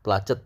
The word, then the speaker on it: placed: udah salah place placed plet tulisannya placed pakai T placed bacanya pakai T placed ya ditempatkan vb-nya